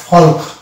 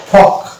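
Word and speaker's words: folk: next word দেখতে পাবো এটার উচ্চারণ যদি আমি পুরোপুরি করি তাহলে হয়ে যাবে ফলক এই ফলক হচ্ছে ভুল উচ্চারণ কেননা এটার একচুয়ালি উচ্চারণ হবে ফক অর্থাৎ এল এখানে মানে অনুচ্চারিত থাকবে অর্থাৎ সাইলেন্ট থাকবে যদিও এল এখানে বসে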